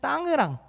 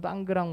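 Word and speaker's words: Tangerang: 이 자카르타에 계신 건 아니고 자카르타에서 서쪽으로 조금 20km 정도 떨어져 있는 땅으랑, 우리 외래 표기법은 땅그랑 땅이랑이라고 읽는데 땅으랑이라는 곳에 계신 겁니다.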